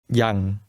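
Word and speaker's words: ยัง: word that means already here's the word for still which is pronounced with a midlevel tone listen and repeat yang young how do you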